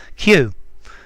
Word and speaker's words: cue: Yeah, but a cue, yeah, it's pronounced exactly like Q as well. Q.